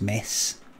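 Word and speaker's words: Metz: Please go to Mets. That's where I'm by the way. It's pronounced mess.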